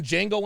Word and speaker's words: Django: often you ever seen django unchained yeah the d is silent like a jimbei oh